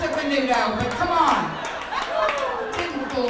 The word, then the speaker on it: Menudo: But, I mean, they pronounce it Menudo, but come on.